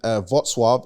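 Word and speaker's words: Wrocław: guys about um Poland I was in votswave it's spelled Rogue chloro Rock Law whatever but it's whatsoever because I spoke to my Polish people then like um yeah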